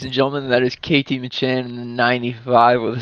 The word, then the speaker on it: McMahan: Ladies and gentlemen, that is Katie McMahan in the 95 with a second place finish here tonight over Say m a c h a n, McMahan. McMahan.